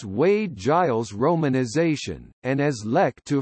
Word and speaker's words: Lek-to: Giles romanization, and as Lek Tu from its Hokkien pronunciation.